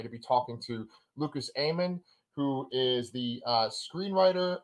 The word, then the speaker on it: Amann: pronounced your name right it's Lucas Ayman right yes and you may be